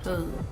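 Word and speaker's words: Tú: In Vietnamese, it's actually a little accent mark that goes on top of the letter U, so to correctly pronounce it is actually Hu.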